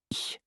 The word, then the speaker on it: ich: Oh, and speaking of German sounds, the ch sound. This one is unique. It's like the sound in the Scottish word lach. Not a hard K, not a hard C. A soft, breathy ch. Ich.